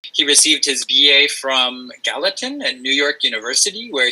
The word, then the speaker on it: Gallatin: I don't know how you pronounce it. Let me take you off mute, man. Yeah, Gallatin.